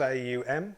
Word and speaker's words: aum: by chanting on once on having three syllables aum so first of all we open our mouth wide ow and then we close it slightly and then we bring the lips together okay vibration in the belly